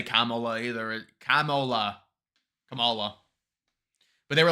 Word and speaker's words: Kamala: screen's ever ever talk the vice president pronounces her first name Kamala you mispronounce it do you do that on purpose no ma'am I don't know how she pronounces it I've never this is the first time anybody's ever ever told me that how did I say it you said Cala and it's okay well